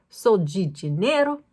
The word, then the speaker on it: Sol de Janeiro: Sol de Janeiro product, and I say G because I lived in Brazil for several years, and they pronounce DEG, whereas in Europe, in Spain, and in Portugal, that DE sound is de, but I would pronounce this Sol de Janeiro, and it is not the same, okay?